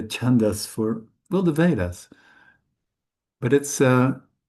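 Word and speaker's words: छन्दस्: And sa is to be pronounced really sharp. Sa. Bold and sharp.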